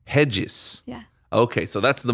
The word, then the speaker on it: Regis: cringe when somebody says regis no but there are other pronunciations i mean right either righteous or like in portuguese it's really jesus hedges yeah okay so that's